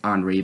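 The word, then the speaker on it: Henri: like i mean i've it's pronounced on re but i pronounced it henry to be uh more simple but henry just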